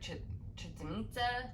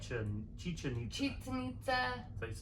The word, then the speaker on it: Chichen Itza: I would also say, though, coming back to Cozumel, because then you're very close to like Chichen Itza, I believe is how you say it. Chichen Itza.